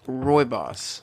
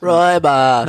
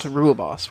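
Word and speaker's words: Rooibos: should be telling me apparently it's pronounced Roy boss Roy boss not ruoss ruoss sounds cooler so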